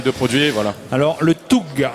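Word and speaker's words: Tough: Alors le Toug s'écrit T-O-U-G-H.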